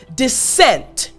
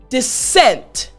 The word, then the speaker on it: dissent: That's where you hear that /s/ hissing sound like a snake. So again, after me, the word dissent. Excellent! Again, dissent.